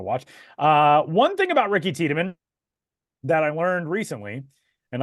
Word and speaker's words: Tiedemann: They say his name wrong on MLB The Show. Boog Shambi says Tideman when he comes into the game, which is very strange.